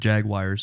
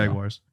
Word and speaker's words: Jaguars: Jaguars. Sorry. Yeah, but I say with the Jaguars. I say with the AU in there. You say it like with there's an I in there. It just I'm mildly perplexed.